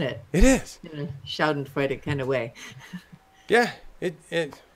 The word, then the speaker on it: Schadenfreude: Schadenfucken?